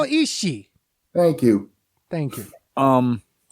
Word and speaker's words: Ishii: High Row is high. Wow, you sound like Jim Ross right about now. Sleazy, you say it better then. 23 Tomohiro minutes. Ishii.